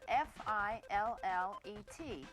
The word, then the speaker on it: fillet: The word that we use describing fish is spelled f i l l e t and it should be pronounced fillet.